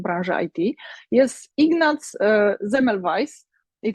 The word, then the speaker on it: Semmelweis: branży IT, jest Ignaz Semmelweis i to jest węgierskie nazwisko, ale czyta się je po niemiecku i być może nie